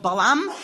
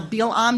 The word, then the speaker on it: Balaam: So Balak hires a sorcerer he's heard of called Balaam or Bilam, depending on the pronunciation you're using.